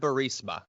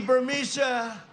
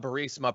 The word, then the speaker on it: Burisma: Here is a video of the president trying to pronounce the word Burisma. 8 months after his alleged meeting with the Burmese executives. So this Burmese, they say, pronounce it Burmese, a real beautiful company.